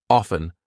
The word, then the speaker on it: often: Hustle, or F-T-E-N, silent T. Often, soften. I'm not saying often.